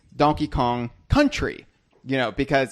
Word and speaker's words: Donkey Kong Country: even means it's because the way we say it is donkey on country but it we should be pronouncing it or enunciating it or emphasizing it as Donkey Kong Country you know because it's